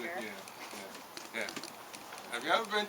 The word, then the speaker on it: Jamaica: You know, it's pronounced Jamaica, and it stands for Jamaica, Oh. and so people from England used to vacation in Jamaica, right? With the Cockney accent, the way it's said in Cockney, right, is they say it Jamaica.